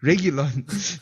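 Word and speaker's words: Reguilón: How do you say his name? Regulon.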